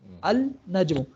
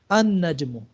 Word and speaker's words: النجم: وہی پڑھا جائے گا، بیکمز این النجم، ہاں دیکھیں نا اصل میں کیا تھا، النجم تھا، النجم، لیکن کیا بن گیا یہ النجم، ٹھیک ہے، النجم، ال، ہاں بالکل ال سائلنٹ ہو جائے گا۔ اسی طرح دیکھیں الرجل،